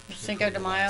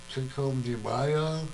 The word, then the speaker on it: Cinco de Mayo: Cinco de Mayo? How do you pronounce it? Cinco de What? Mayo. Gay Mayo? De Mayo. Day. Oh, Day. de Mayo. Well, it's De almost Mayo.